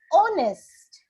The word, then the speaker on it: honest: right did you notice honest I don't say h the H is silent we do not say